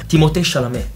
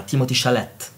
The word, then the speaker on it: Timothée Chalamet: Come che si pronuncia? Timothée Chalamet. Timothée Chalamet. Timothée Chalamet. No, lo chiamano in tutti i modi. Timothy, cioè mia cognata lo chiama Timothy Chalet.